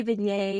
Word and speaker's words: vignette: So you want to explain what a vignette is? Yeah, yeah. So you say vignette, I say vignette. It really just whatever. It just depends.